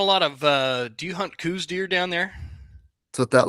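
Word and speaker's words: Coues deer: Coos deer? Because I there was like Yep, these arguments about cows deer versus coos deer going on a yep.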